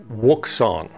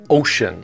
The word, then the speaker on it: Wouxun: how to properly pronounce wook song the w is silent and the x as we all learned in elementary school is pronounced sh so the actual pronunciation is ocean like ocean so from